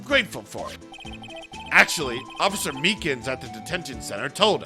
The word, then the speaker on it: Meekins: for it actually officer meekins at the detention center told us ah that poor little doggy poor guy i keep getting his name wrong and calling him meekly he told us something